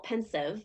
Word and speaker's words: Pensieve: mean first of all pensive um I looked it up the author explains that it is a homonym for the word pensive to mean like thoughtful right um makes sense